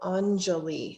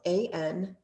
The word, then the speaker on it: Anjali: hands together at the heart this is called anjali it's spelled a-n-j-a-l-i and anjali mudra or ange anjali seal means